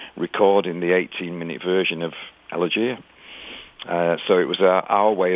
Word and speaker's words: Elegia: Well, we pronounce it slightly different to you Americans. It's Elegia.